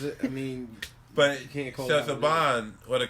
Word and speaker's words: Saban: Sinbad. No, his name is Saban. It's Saban. It's pronounced Saban.